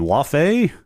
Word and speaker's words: Laufey: Laufey? Laufey? Laufey. Laufey. She Well, she is Laufey or she goes by Faye, right? So, I assume I assume the the second syllable is Faye, but I don't know.